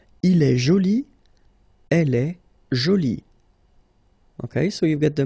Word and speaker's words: jolie: Okay, so you can see that you put this e but then you don't pronounce it. Okay, so it's joli. So basically the two adjectives, masculine joli and feminine jolie, are pronounced the same way.